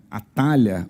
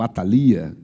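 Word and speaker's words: Atália: E dali então eles saem e Atalha ou Atalia, depende da pronúncia, é o porto que fica na região de Perge.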